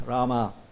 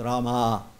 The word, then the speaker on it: Rama: Don't overpronounce the A, otherwise it becomes female. So it's Krishna, and then it's Rama. It's not Rama, it's not Krishna.